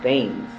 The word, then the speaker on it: Thames: Pronunciation is Thames. It's supposed to be like England. But most Newporters say Thames. They pronounce it the same way it's written.